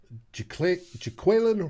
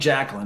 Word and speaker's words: Jaquelin: Until I hear him say it, but everybody's saying it's Jaquelin Yeah, versus I'll go with Jacqueline. that. But Yeah, it ain't Jacqueline.